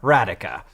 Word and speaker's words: Radhika: Like radical without the L, Radhika."